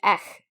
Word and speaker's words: Ech: not be named in this episode, as Brand Ech in their bulletins or newsletters. That's spelled ECHH.